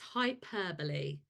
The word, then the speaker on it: hyperbole: sentence longer idea okay hyperbole really annoying that it's spelled hyperb but yes hyperbole so it's a way